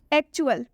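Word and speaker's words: actual: है, जब टी के बाद UAL आए तो टी को च पढ़ते हैं। क्या आए? UAL। जब किसी भी वर्ड में टी के बाद UAL लिखा हो तो हम उस वर्ड में टी का उच्चारण च से करेंगे।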